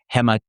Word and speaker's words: hematopoiesis: I want to make sure I pronounce this correctly. Clonal hematopoiesis?